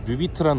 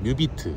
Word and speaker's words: 뮤비트: 자, 온라인 시청은 뮤비트라는 어플에서 시청하실 수 있고요. 자, 스펠링 아시나요 혹시? N, 아니야 뮤, M, M, M, U, B, E, A, T. 그렇죠. 아, 뮤비트.